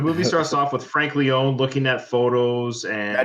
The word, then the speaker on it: Leone: The movie starts off with Frank Leone looking at photos and. Now, do you like Leone or Leone?